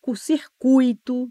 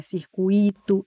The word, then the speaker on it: circuito: equivocada então é filantropo é circuito não é circuito é fluido não é